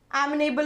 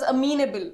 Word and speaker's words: amenable: the meaning of amenable amenable means it is pronounced as a mean able not amenable amenable a